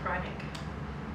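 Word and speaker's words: Kreinik: would pronounce it because you know German, so, and you say krynek. Yeah. And that's what the people at the company said too, krynek. Yeah. Yeah. I always used to say krynek.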